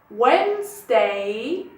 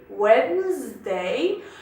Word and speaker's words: Wednesday: Monday اثنين، Tuesday ثلاث، Wednesday الأربع، هي كتكتب بدي Wednesday، ولكن لنطق أسهل ما كتسمعوش بزاف هذيك دي. Wednesday، Thursday خميس، Friday اللي هو الجمعة، السبت Saturday الحد، Sunday.